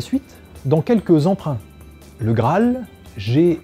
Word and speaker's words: Graal: dans quelques emprunts le Graal gr R a al l un n n a n qui désigne un pain indien les deux a se prononcent alors comme un seul en revanche dans les